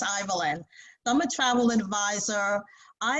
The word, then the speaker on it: Ivaline: Think of Evelyn with an I, though it's spelled differently, and it's Ivaline.